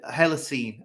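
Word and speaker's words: Holocene: we're in us the hell of scent uh hella seen i think that's how you pronounce it h-o-l-o-c-e-n-e extinction and i'll just give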